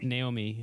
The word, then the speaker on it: Naomi: Naomi, yeah.